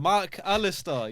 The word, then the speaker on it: McAllister: But it's being- not MC. Like it's It's Mac. MAC. They're separated. Mark Alistair. Because they spell it wrong. You need to have a little pause in between. You say Mac. You need to say Alistair afterwards.